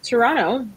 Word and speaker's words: Toronto: And I, too, am based in Toronto. The T is silent.